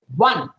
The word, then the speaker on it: one: One, O-N-E, one. So you have to roll your lips and you have to speak.